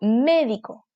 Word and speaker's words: médico: Médico, no digo médico ni medico, digo médico, antepenúltima.